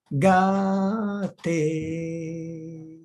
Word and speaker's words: Gate: Alors, une personne demande comment prononcer le mantra Gate. Gate, Gate, Gate, Gate. Voilà comment on le prononce et on le fait autant de fois qu'on veut bien le faire.